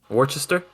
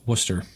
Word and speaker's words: Worcester: town that is like that's not how you say it is what' you say Worchester that town is is pronounced Worcester oh so it's not